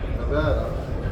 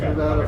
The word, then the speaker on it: Nevada: The pronunciation is Nevada. It has always been Nevada. Every person born in Nevada calls it Nevada. I have heard correspondents on TV call it Nevada. It's not Nevada. It's Nevada.